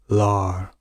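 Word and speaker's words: lār: The later versions of Middle English would have it pronounced more so lore, but older or northern variants, as I mentioned previously, will be pronounced more so lar, and we can see Old English lar.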